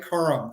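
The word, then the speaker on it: Corum: this guy running back out of Michigan Blake Coram is that how you say it play Quorum yep five eight two hundred nine um I'll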